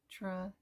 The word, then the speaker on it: estradiol: Pronunciation is estradiol.